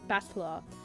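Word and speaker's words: Battler: Is uh I guess I guess Batla is made up of the characters for fight and person. It's pronounced batler.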